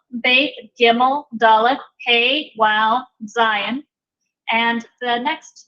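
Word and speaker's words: זין: And this is pronounced like a Z, but it has a little bit of a D sound at the front. So this is Z, Z.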